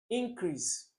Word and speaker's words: increase: Where is the stress on increase? No. Increase. Because you're asking for something to be done.